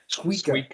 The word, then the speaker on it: Suika: Suika. Yeah. I like how they pronounce it.